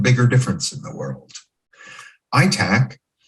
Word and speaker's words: ITAC: difference in the world itac the international teaching artist collaborative some people pronounce it attack connects the thousands of